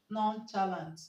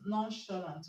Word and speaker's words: nonchalant: The CH in nonchalant is pronounced sh. Okay, so the word is not pronounced nonchalant, it's nonchalant. Okay.